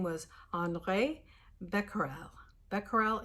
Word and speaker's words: Becquerel: Becquerel, it's kind of important you know that, Becquerel, because later on we'll be talking about Becquerels, and they named something after him. But Becquerel, I think that's how you pronounce it. It's French, Henri Becquerel.